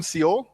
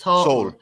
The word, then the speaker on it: Seoul: populated are you in seo are you in the capital uh which city yes i see a nasir um corrective corrective pronunciation just soul soul like it's all yeah okay yeah so